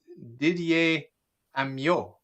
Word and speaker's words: Didier Amyot: okay so we are live i'm here with didier amio did i pronounce that properly that's perfect that's perfect you